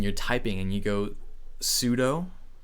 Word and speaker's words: sudo: likes terminal and you're typing and you go sudo it's actually not pronounced sudo Ice pronounced su do and I'd never knew that so I'm a